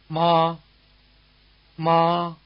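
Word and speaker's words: 妈妈: Mama which means mommy by the way the week's second syllable in mama is not in one of the four tones it's said to be toneless or in the neutral tone we'll take this up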